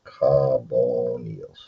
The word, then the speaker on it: carbonyl: So the next set of functional groups are called carbonyls. Okay, and that's pronounced carbonyl. Carbonyl. In case you missed it.